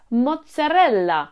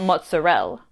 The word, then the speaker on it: mozzarella: eat the food don't eat your letters it's mozzarella not mozzarella vowels aren't silent in